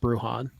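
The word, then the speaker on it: Bruján: insurance I think uh by the way it's pronounced brujan yeah I think the thing with bruhan is is that like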